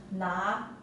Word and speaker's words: 拿: this character is pronounced as na na and it means to hold or to